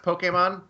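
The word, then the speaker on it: Pokémon: career out of studying Japanese, I know it's pronounced Pokemon, but as a person who played it in 1998 and called it Pokemon, that is why I'm calling it Pokemon.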